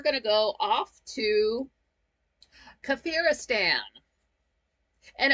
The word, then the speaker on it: Kafiristan: to go off to kafiristan and at first they kind of pronounced it weird it kind of sounded like they were saying cafr estan like like the Egyptian pharaoh cafr um but it it's not